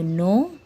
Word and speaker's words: know: KNOW, no. KNOW, no. KNEE, knee. KNEE, knee. In these words, the K is silent letter, where we can't pronounce K. We start pronounce from N, knife, no, and knee.